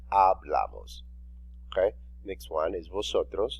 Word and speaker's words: hablamos: So you will say hablamos. Remember, the letter H is silent. You don't say hablamos, you say hablamos.